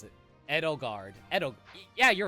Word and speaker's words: Edelgard: Edelgard. That's how I pronounce it. Edelgard.